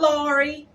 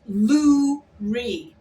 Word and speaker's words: Lurie: It's Lurie Favors. Lurie Favors. Not Laurie. Not Lori. It's Lurie.